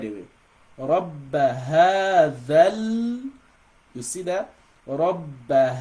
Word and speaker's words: رَبَّ: So for you to pronounce the letter ba with shadda, you've got to assume you're pronouncing 2 bas. The first one is gonna have a half second sukun, and the second one is gonna be having a fatha. Right? So rabb. So you assume you're pronouncing one silent ba and pronouncing another one with haraka.